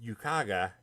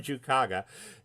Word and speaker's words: Jukaga: And there's a scene in Fleet Action where Thrakath is bickering with Yukaga. Did I just try to pronounce Jukaga with a Y? That was weird. Baron Jukaga, and he's like, you